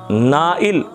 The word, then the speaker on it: نائل: ایک نام ہے نائل۔ نائل دھیان سے سن لیں، نائل، اور دھیان سے دیکھ لیں تلفظ، نائل اس کا مطلب